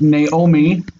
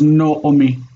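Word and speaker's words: נעמי: There's also the word Naomi that they give you in the book where they show this. They say it's Naomi, Naomi. I read it still as Noomi, Noomi.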